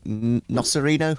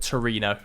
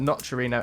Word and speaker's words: Nocerino: in the dark at Torino. It's not Torino. Not Torino to Torino. Not quite. I'm going to write his name down. How do you spell it? Nocerino, Nocerio. I-N-O. Okay, so, Nocerino. Yeah.